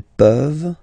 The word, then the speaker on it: peuvent: Tu peux, il peut, elle peut, nous pouvons, vous pouvez, ils peuvent, elles peuvent. Okay? As usual, this ending, this ENT ending, you write it, you don't pronounce it.